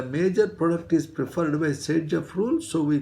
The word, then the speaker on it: Saytzeff: Sage-Jeff rule, spelling is not exactly like this.